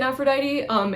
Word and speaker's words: Aphrodite: So you might be expecting an F sound in Aphrodite. It's a P sound because in this period, the PH, or the way that it gets written in English is a PH, that's actually a P rather than a like F sound.